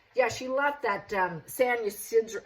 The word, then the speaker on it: Ysidro: Yeah, she left that San Ysidro, I think it's pronounced Ysidro Ranch.